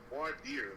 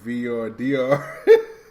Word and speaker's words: voir dire: Yeah, I don't like the way you butchered that title. It's Voir Dire, bro.